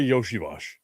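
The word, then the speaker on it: Iosivas: I saw an article yesterday talking about Bengals wide receiver Andre Yoshiash. And yes, that's how you say it, even though it's not spelled that way.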